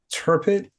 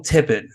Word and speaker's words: Tippett: Phil Turpin, Mad God. Is that it? Is that how you say his name? No, Phil Tippett. That's it.